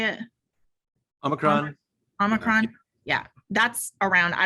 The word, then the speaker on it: Omicron: So there's an article about what Omnicron, is that how you say it? Omicron.